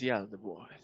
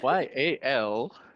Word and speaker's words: Yaldabaoth: Its name is Yaldabaoth. oh god, how do I spell that? Yaldabaoth. Okay. Yep. Oath. Thank I just you. realized it's like Yal Dab Oath.